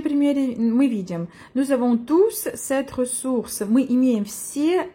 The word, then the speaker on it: tous: Дальше я вам ставлю видеопримеры как раз на второй случай, когда туз является местоимением и мы произносим крайнюю s. Ils ont tous leur iPhone, leur PC, leurs réseaux sociaux.